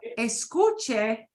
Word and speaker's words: escuche: The schwa thing is a big deal because escucha means you're talking to somebody you're on a first name basis with. But escuche, you're being polite. Yeah. So that schwa thing, it's kind of important. Yeah. Get rid of the schwa.